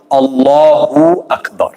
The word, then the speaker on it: Allahu Akbar: You know, sometimes we're saying like, I've heard people say Allahu Akbar or Allahu Akbar or things like that, right? So we want to make sure that we're trying to say it properly, Allahu Akbar, right? To try to pronounce it like that.